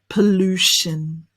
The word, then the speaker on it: pollution: Pollution. Are you ready? We've got shin, pollution.